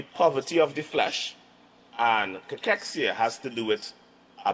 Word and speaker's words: cachexia: So, sarcopenia and cachexia, all right? That's the pronunciation, all right?